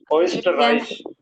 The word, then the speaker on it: Österreich: Österreich. Yeah. Österreich. Österreich. මේක pronounce කරන්නේ O කියලා නෙමෙයි. Okay? අපි ඉංග්‍රීසියෙන් කියනවා skirt, skirt, okay?